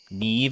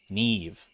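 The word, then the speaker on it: Niamh: just like me know Neeve as pronunciation really NE what language is that or is that is that is that a different language very Irish name Neeve good to know all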